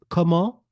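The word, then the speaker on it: comment: name repeat after me KO course we're going to do it with a rising tone so this KO the t is silent and the all part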